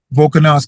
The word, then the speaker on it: Volkanovski: The champ 145 of the Volkanovski Volkanovski, yes.